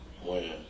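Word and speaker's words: Wynn: Win. Win? Or Wen?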